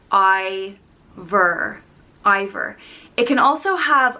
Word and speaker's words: Iobhar: i o b h a r and it's pronounced i ver either it can also have a fada an accent over the eye which would change the pronunciation to ever either um it can also be pronounced ever or other and there's four different provinces in